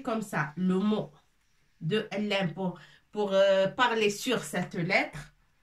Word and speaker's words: لام: Ça s'écrit comme ça. Le mot de Lam.